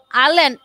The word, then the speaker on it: island: আইল্যান্ড দেখেন এখানে ISLAND, কিন্তু এটার উচ্চারণ হবে আইল্যান্ড।